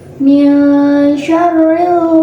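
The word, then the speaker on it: مِنْ شَرِّ: Pada ayat ini terdapat hukum bacaan ikhfa, yakni karena ada nun sukun yang bertemu dengan huruf shin, dan cara membacanya nunnya dibunyikan dengan samar-samar ke huruf shin sambil berdengung.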